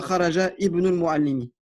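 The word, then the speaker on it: خرج ابن المعلم: Ici aussi, un wasla. Je ne prononce pas le alif. Je dirai pas kharaja ibn al-Mu'allimi.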